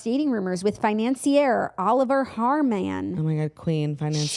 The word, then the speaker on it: Haarmann: Haarmann. And I'm saying it weird because look at how it's spelled. Haar. M-A-N-N. Haarmann.